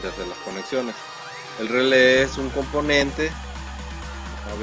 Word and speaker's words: relé: Ahí tenemos nuestra protoboard y los relés los podemos ver si lo buscamos aquí. Relay, ahí tenemos. No sale con relay, solo sale con relé. Se escribe R-E-L-E, pero la E tiene acento, la última.